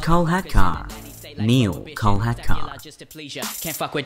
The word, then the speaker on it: Kolhatkar: It's pronounced Kolhatkar.